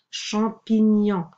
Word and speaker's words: champignon: Champignon. Je ne vais pas entourer ici le A parce qu'il est suivi d'un M et on le prononce en.